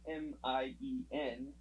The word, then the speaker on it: Mine: So, you'll get characters, like Tatsumi, his name's Set, but then you got mine, which is spelled Mine, but it's actually pronounced Mien.